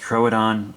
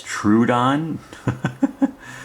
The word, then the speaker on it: Troodon: Trodon. I'm told it's pronounced Trodon. I've always read it as Trudeon.